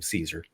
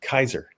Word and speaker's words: Caesar: Well, first of all is that he himself wouldn't have pronounced his name Caesar. Um he would have pronounced it Kaiser because that's that's just how Latin was pronounced.